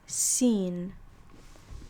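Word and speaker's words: س: So this next one is seen. And this one is just a simple S sound.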